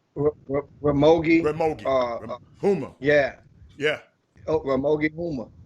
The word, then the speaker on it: Ramogi Huma: Humogi, right? What his name? What his name? How you pronounce his name? Ramogi. Huma.